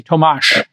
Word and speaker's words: Tomasz: Tomasz with an SH at the end. Yeah, ah, thanks, Tomasz. I knew I was doing it wrong, and my dyslexia is going crazy. Tomasz with the SH on.